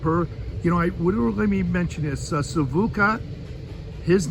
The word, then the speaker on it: Sivuca: from some of my favorites, he's passed now, Savuka from Brazil, and he's aware, he knows Savuka,